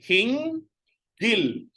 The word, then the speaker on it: hinggil: Okay, hinggil. So you pronounce the hing first and then the gil.